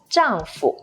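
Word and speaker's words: 丈夫: be a grown man zhangfu is a common everyday word to say husband zhang fu but notice the fool here has a neutral tone which means it's brief and light zhang jiang with no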